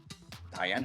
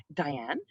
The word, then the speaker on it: Dianne: Mesdames, messieurs, ladies and gentlemen, Dianne Hoeve. Hey, it's Dianne Hoeve. Am I pronouncing this right? Not really, but I accept it. How should I pronounce your name? Dianne Dianne Hoeve.